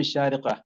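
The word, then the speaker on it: الشارقة: കാരണം നമ്മൾ ഏതെങ്കിലും ഒരു അറബിയോട് പറയുമ്പോഴത്തേക്ക് ഷാർജ എന്ന് പറഞ്ഞു കളയരുത്, ഷാരിഖ എന്ന് തന്നെ പറയണം. നഹ്നു നഈഷ് ഫി ഷാരിഖ.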